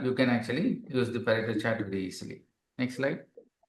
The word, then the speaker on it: Pareto: So Pareto chart, it is pronounced Pareto, okay?